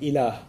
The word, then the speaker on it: ilah: which there's the term ilah. If you want to write that in English, it would be I-L-A-A-H, ilah. It's pretty easy to pronounce in English, okay?